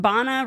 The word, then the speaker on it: Bana: over pronounced it like if you really want to be Arab about it it's B but like most people can't do H so they do the and I would rather just keep it bana rhymes with Ghana and keep it moving